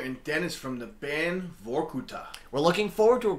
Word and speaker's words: Vorkuttah: uh so um what is how do you pronounce the name of your band vorkuta and what does that mean exactly uh first